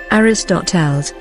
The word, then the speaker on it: Ἀριστοτέλης: Aristotle, ancient Greek, Aristotelēs, ancient Greek pronunciation, Aristotelēs, or Aristotle in short, 384, March 7, 322 BC, ancient Greek philosopher.